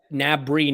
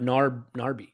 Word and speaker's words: Gnabry: an abri isn't it i think you put the r nabri not narby like you know i